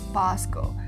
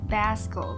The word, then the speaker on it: Basco: day so this is basco they always pronounce his name as bosco but it's not bosco it's basco like tabasco sauce or do people say